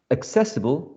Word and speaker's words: accessible: carry the primer stress the second syllable is the stressed syllable okay and we can